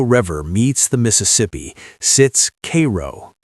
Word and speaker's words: Cairo: At the very tip of Illinois, where the Ohio River meets the Mississippi, sits Cairo, pronounced Cairo by those who still call it home.